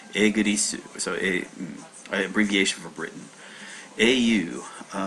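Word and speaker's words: イギリス: the kanji that was utilized in forming the pronunciation of Igirisu or something like that. So this is England, and you say Igirisu, so abbreviation for Britain.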